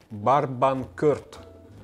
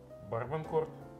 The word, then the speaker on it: Barbancourt: Барбанкорт. Барбанкорт. Корт, ну типа теннисный корт.